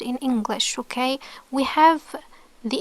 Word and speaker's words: ح: Press flows okay so it's made when the middle part of the throat becomes narrower when there is constriction and there is no vibration while pronouncing this sound it's not like he it's it's ha okay um so to